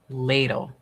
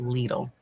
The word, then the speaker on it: Lidl: And usually for a whole wheat bread at least um it uh ladle. Thank you. I've been pronouncing it lidle.